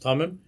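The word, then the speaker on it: תמים: Zui Yud HaPnimiyus and Elemis B'Tevas Tamim, and that is the hidden Yud, or the Yud that you don't pronounce in the word Tamim, that's contained in the word Tamim, which means that which is perfect.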